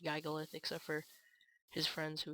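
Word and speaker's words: Gigalith: And I've never really looked up the full actual pronunciation, but most of the time I hear people pronounce it giggleith. I don't think I've ever heard anyone else pronounce it Giggalith except for his friends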